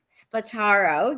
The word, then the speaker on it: Spataro: introduce to You spataro did I say that correct you said that perfectly it's pronounced exactly like it looks so people put way too much other syllables into it perfect beautiful wonderful uh